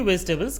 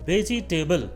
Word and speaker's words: vegetable: इसके लिए हम वेजिटेबल को 3 सिलेबल्स में बांट लेते हैं। तो इसका करेक्ट प्रोनाउंसिएशन होगा वेजिटेबल।